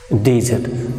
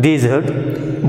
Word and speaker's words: desert: Now look at the noun desert. So word is same, desert, but when it is to be used as verb, the syllable, first syllable is stress, and when it is to be used as noun, you can see here second syllable is used, that is desert. Second syllable is stress, desert.